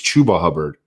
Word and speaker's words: Chuba Hubbard: work away from chubba chuba it's chuba hubbard correct i've been saying it correctly you've been you've been saying shabbat i've been butchering it i know shout out